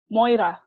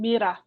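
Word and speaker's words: μοῖρα: The Greek word is moira, or in the modern pronunciation, mira, which means portion or lot.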